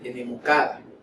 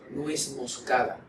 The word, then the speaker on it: nuez moscada: La mayoría de las personas dice enemocada, enemocada, y es nuez moscada, nuez moscada. Esa parece una piedrita, es nuez moscada, no enemocada.